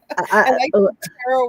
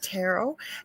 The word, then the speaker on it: tarot: There's two ways to say it. Tarot and tarot. And my good friend Marla Ventura says it that way.